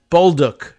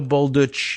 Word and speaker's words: Bolduc: New Hampshire police officer pronounces his name as Bolduc. No Bolduc. It's not, they don't retain any Central European or Slavic pronunciation of it.